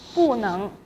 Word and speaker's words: 不能: 我不能去美国美国 means the US, the America 美国 So 能 is in second tone. So 不 will be pronounced as 不 in fourth tone. 不能 I cannot go to the America.